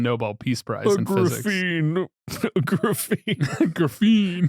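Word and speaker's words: graphene: Graphine. Graffine. Graffine. Graphine. Is it graphine? Yes. Oh my god. You know why you know that? You know how you know that? Graphite. Stupid.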